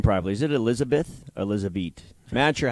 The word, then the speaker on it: Elizabeth: Is it Elizabeth or Elizabeth? Mancher, how do I say this name properly so I don't insult her? Elizabeth? Like bet. Elizabeth.